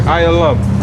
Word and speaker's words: Elam: Right here. Ayalam. That's how you say it. That's Elam. These are the 18 nations.